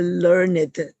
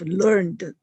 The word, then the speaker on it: learned: very um respected person we would call him a learned person instead of learned person because learned is the past tense of the word the verb learn so this word has two different pronunciations when used differently and when we say